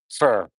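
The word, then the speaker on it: Pho: Faux is pronounced fur. Is it really fur? F-U-R fur?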